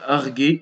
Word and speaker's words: arguer: Troisième remarque, le verbe arguer se conjugue comme tuer avec le U prononcé et non comme naviguer.